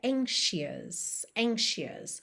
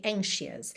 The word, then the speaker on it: anxious: Mas aqui a pronúncia é anxious, ou seja, o som do SH ou do X em português mesmo, ok? Anxious.